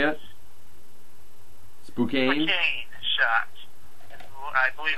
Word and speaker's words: Spokane: Spokane? Spokane Shock. I believe how it's pronounced.